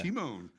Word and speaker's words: Timon: kind of like the Lion King. Yeah? Yeah. Timon. Yeah. Oh, yeah. Yeah, he was one of my favorites, right? Yeah, it's the funny one, you know. Timon.